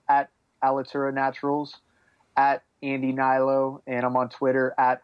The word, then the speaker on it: Hnilo: It's a little different of a spelling, but the H is silent.